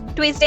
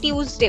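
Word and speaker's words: Tuesday: ट्यूजडे टुडे इज ट्यूजडे ट्यूजडे नहीं बोलना है ट्यूजडे बोलना है ट्यूज ट्यूज टुडे इज ट्यूजडे टुडे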